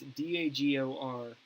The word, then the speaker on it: Dagorhir: It's called Dagor here. I just pronounced it. It's Dagorhir.